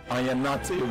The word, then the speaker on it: Ayanate: My name is pronounced Ayanate.